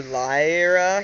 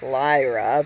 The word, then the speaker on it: Lyra: about Ln um or Lia he says he says you're you guys pronounce it wrong it's Lyra but you know whatever